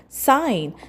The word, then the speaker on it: sign: The first word we have is sign spelled as s i g n and we pronounce it as s i n.